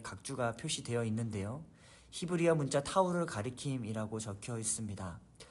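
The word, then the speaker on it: תו: 히브리어 문자 타우를 가리킴이라고 적혀 있습니다. 타우, 타브라고 발음을 하는데 타우는 히브리어 알파벳 마지막 글자입니다.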